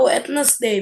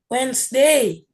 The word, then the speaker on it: Wednesday: day is it uh wetness day Miss there you go Chris is it wetness day or Wednesday Wednesday Wednesday we already learned silent letters in English so it's Wednesday got it wait wait